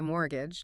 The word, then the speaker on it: mortgage: It's funny, the pronunciation of mortgage always gets me. Looks like it should have a T sound, but we say mortgage, don't we?